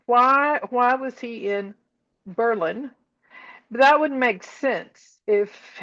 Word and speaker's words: Berlin: I found it turns out that it's not Berlin, New Hampshire. It is Berlin. They they changed the pronunciation during World War I as a patriotic